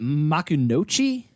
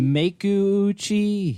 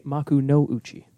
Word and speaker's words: Makuuchi: It's technically Maku-uchi, or a more archaic pronunciation would be Maku no Uchi.